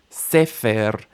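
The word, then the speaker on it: ספר: Did you get the initial stress? Try it again. Sefer.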